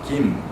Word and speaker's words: Kim: Proper way to say is Kim. So don't use the forte sound, don't use too hard, like hard G.